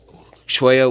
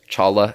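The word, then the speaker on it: cholla: is nice of the the Choya wood or Chawla as some people say but I was informed choice is the way to say it like the structure looks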